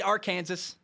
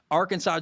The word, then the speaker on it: Arkansas: It's number 8, Arkansas. At number 2, Georgia. 2 undefeated teams. Last week, Arkansas beat Texas A&M, who is the number 7 team in the nation at the time of the game. Arkansas, Georgia should be fun.